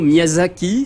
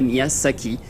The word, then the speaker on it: Miyazaki: De la même façon, Miyazaki s'écrit forcément avec un Z et pas un S, sinon ça ferait Miyasaki.